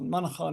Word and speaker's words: Manchán: So there to be pronounced Monaco. Monaco is how I'd say my name.